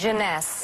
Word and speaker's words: Jeunesse: How do you pronounce this? Jeunesse.